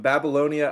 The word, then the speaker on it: Babylonia: I believe the correct pronunciation is BabyLonia.